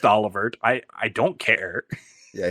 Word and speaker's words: Olivert: by your favorite Prince Olivier himself I know it's pronounced olivert I I don't care